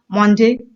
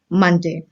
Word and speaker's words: Monday: अक्सर बहुत सारे बच्चे जो हैं कई बार इसको मॉन्डे प्रोनाउंस करते हैं। मॉन्डे, ऑनियन, मॉन्डे। तो ये गलत प्रोनाउंसिएशन है। इसकी सही प्रोनाउंसिएशन है मंडे। जैसे कि आप गन बोलते हैं, गन है, सन है, वैसे ही मन की बात, मंडे।